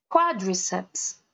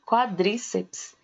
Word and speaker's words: quadriceps: Quadriceps, ok? Quadriceps. Porque a gente fala geralmente quadríceps, né? Então, a gente tem a mania de colocar a sílaba mais forte na sílaba do meio.